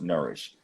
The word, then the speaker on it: NRSH: If you go on our, yes, NRSH, Nourish. It's pronounced Nourish.